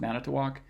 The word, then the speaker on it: Manitowoc: Yeah, it has 4 syllables and has stress on the first and the last, Manitowoc.